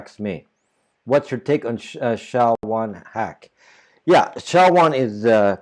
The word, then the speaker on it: SHA: old websites still use sha one but uh uh you know uh use shot two or shot 256 or sha 512 it's called It's pronounced Sha shha but that's that's a